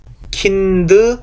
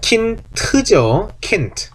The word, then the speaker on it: Kind: 예, kind 아니에요. kind죠. kind. 왜? 맨 끝에 오는 d는 뭘로 어떻게 발음된다? 태처럼 발음이 된다 해서 kind입니다.